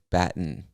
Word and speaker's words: Baton Rouge: state is baton rouge i know it looks like baton rouge and i guess you could say it that way but most of us don't really pronounce the t in baton so we say baton baton rouge baton rouge louisiana all right cool the